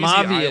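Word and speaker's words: Maiava: How many syllables is in his last name? Mayava is Mayava. I've also heard like a crazy Mavia, island. Yeah, no, yeah. I've heard it too.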